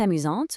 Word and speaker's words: amusante: The phrase is Elle est amusante ou méchante, meaning is she funny or mean? Based on the sound and spelling of these adjectives, both amusante and méchante ending with that sharp, activated T, it confirms immediately that the subject is female.